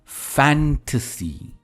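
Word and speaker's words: fantasy: फैंटेसी, again the stress is ऑन फैन, ट सी, फैंटेसी।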